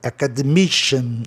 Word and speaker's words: academician: Acadêmico, academician. Olha aqui o cian, gente, no final. É outro grupo especial, sílaba única. Sempre o I, pode ver que sempre o I é a sílaba mais tônica.